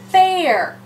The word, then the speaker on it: fair: So here, we're going to hear the A. I'm going to put a macron. And I'm going to cross off the I, because the I is silent. This is our vowel team, A-I vowel team. And A-I says A. Remember, A-I bait A. So we go from far to the word fair. Fair.